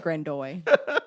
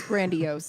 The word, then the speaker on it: grandiose: said you said grandoy.